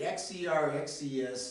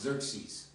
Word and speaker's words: Xerxes: There's a bunch of By the way, XERXES is pronounced Xerxes.